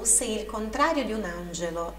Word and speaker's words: angelo: Se il contrario di un angelo, som do GE é sempre explosivo. GE, angelo.